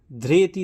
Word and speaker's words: ধৃতি: নিয়ম আর কি শিখলাম তাহলে যদি ধ এর নিচে ঋ থাকে ধ্রেতি থাকে তাহলে আমরা বাংলায় কি বলবো ধৃতি বলবো ধৃতি কিন্তু সবসময় ধ্রে মানে ঋ এর মতন উচ্চারণ হবে ধ্রেতি ধ্রেতি আর কি বললাম